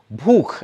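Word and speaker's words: भूख: So when he means bhook as in hunger, he pronounces it as book as in B-O-O-K.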